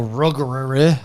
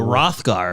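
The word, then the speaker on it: Roegadyn: I'm a Ruggerere. I don't know how to pronounce the race that I am. What? Oh, a Rothgar.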